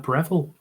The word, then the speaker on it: Breville: And his favourite toaster is a Breville Right. because it rhymes with Greville.